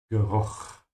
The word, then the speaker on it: Geruch: Make sure to open your mouth here on the CH and make a vibration in the back of your throat, because it comes after a U. Geruch.